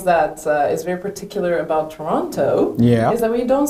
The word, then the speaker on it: Toronto: Yeah, am I pronouncing Toronto? Toronto, like you, if you say the second T, you're an out.